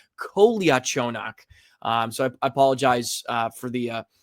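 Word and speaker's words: Kolyachonok: So, it's Kolia Chonak.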